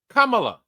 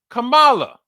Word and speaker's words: Kamala: Kamala or as some people would pronounce it, Camala.